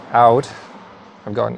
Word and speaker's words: Owd: Apparently it's pronounced Owd. I've got an Owd Betts bitter, I think it was.